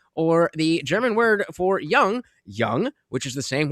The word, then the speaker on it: Jung: Young, which is the same word, not Carl Young, but Carl Yung. So young. Oh, it's it's young in America. The point is it doesn't have an um lot.